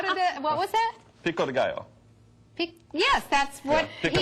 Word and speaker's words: pico de gallo: Pico de gallo.